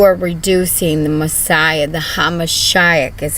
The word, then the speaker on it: HaMashiach: You are reducing the Messiah, the Hamashiach is how you say it, his name to swine.